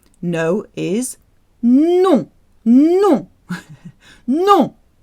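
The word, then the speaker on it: nom: is no no no the word for name sounds the same as no in french no people will often try and pronounce the m but no you don't do that so no and name sound exactly the same no the context makes clear which one you mean no no my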